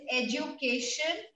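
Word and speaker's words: éducation: Now it's called, the word is education in French. It has same spellings, but how do we pronounce it? We say education. Educa, and this E has accent ugly.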